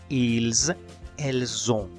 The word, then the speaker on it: ils ont: Aquí sí le pronunciamos la S porque recordemos que si el verbo empieza con vocal, la S del pronombre sí le pronunciamos. Por esa razón la pronunciación es ils, elles ont.